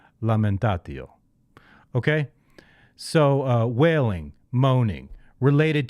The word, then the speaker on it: lamentatio: Do you pronounce it like in Italian? Then you say lamentatio.